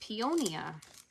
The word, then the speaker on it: peonia: So yeah, so they are pronounced peonia in Italy, in Italian. Hi, Denise from Michigan.